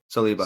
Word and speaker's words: Saliba: Yeah, Saliba.